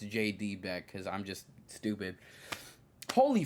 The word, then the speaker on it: JD Beck: Beck, which I, for the longest time, has been saying DJ Beck, not realizing it's J.D. Beck, because I'm just stupid.